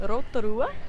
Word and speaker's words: Rotorua: I decided to meet the fam in Rotorua.